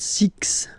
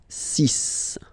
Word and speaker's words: six: And be careful here because even if it's ending with this X, well, you'll have to pronounce it like S. Okay? So, you get the sis pronunciation. SIS sis. Okay? So, it's not six, it's cis.